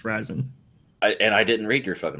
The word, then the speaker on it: Ryzen: No raisin. No, the article said it's pronounced Ryzen.